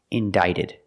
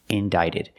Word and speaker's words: indicted: the word is pronounced indicted indicted in the present indict in the past indicted the sea is silent so that makes the T between vowels so it changes to a fast D indicted so on Monday